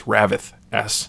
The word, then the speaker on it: Ravyth: I think it's Ravith S is the pronunciation.